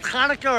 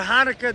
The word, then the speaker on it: Hanukkah: No, it's spelled Hanukkah or Hanukkah, depends according to who. It's actually spelled in Hebrew with a ches. the ches sound.